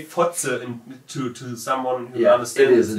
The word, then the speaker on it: Fotze: There's this word Fotze. Yeah, that's pretty good. That's pretty harsh. When you say Fotze, it means cunt, and it's spelled F-O-T-Z-E.